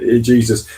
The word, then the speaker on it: Jesus: Yeah, because he's Portuguese, so you pronounce the J. In Spain, it's a H. So he's not Jesus like Jesus Navas, who played for Man City because he's Spanish. It's Jesus, so it's Jesus because it's Portuguese.